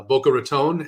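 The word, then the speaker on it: Boca Raton: in uh Fort Lauderdale in boa Ron so uh boa tone as some people say it I don't want to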